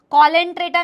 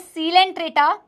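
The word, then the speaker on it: Coelenterata: Porifera स्पॉन्जस, कॉलेंट्रेटा नहीं है। This is नॉट कॉलेंट्रेटा, this is नॉट स्नीडेरिया, this is सिलेंट्रेटा, this is नीडेरिया। C silent है।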